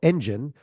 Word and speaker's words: ENDGN: Our guest today, Aaron Steele, is the founder of CEO of ENDGN, which is spelled ENDGN, but sounds like a car engine or a growth engine if you want, is a content lead generation ninja.